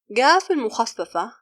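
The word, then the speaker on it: القاف المخففة: Qaf al-Mukhaffafa, the reduced Qaf, is another pronunciation of the letter Qaf. It is used in other languages that uses the Arabic letters, and also used in some dialects to pronounce Qaf. And it sounds like the English G in Google.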